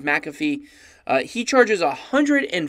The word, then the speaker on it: McAfee: amount that john mcafee some of you guys may pronounce it McAfee but even though phonetically it looks different it is McAfee he charges a hundred